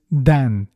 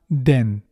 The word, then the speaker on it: dan: The pronunciation of dan is dan. It's not den.